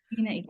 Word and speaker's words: MENAECO: Am I pronouncing it like MENAECO? MENAECO.